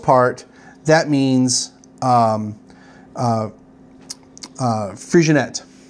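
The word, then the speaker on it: Freixenet: that means um uh frigionette uh and not frisian a as most people say it's kinda like you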